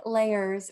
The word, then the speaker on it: Leyers: your name is blake layers rhymes with cake layers which is awesome i